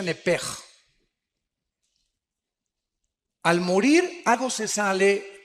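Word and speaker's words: nefesh: Digo, por favor, esta palabra alma en el original hebreo es la palabra nepes. Apúntala como suena nepesh con sh se pronuncia nepej.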